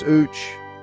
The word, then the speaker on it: uç: In Turkish, the word for fly is UC pronounced ooch.